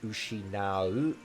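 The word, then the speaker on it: 失う: It means to lose, and it's pronounced this time ushinau, or the way it's conjugated ushinatte.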